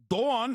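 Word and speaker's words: Doğan: Dawn is my middle name. Dogan is how you spell it.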